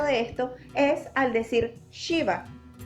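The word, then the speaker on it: शिव: esto es al decir Shiva. Shiva es un poco como cuando hacemos shh, es ese sonido del aire, shh, Shiva. Entonces, de ahora en adelante, ya no pueden volver a decir Shiva, porque si es bien es cierto, es el mismo punto de articulación, la lengua no toca el órgano de la boca, sino es la fricción del aire.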